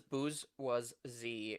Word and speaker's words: bourgeoisie: And she also says bourgeoisie is how it's pronounced.